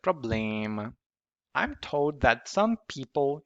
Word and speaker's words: problema: consonant, M or N, it contaminates that syllable. For example, problema. It's not problema, but problema.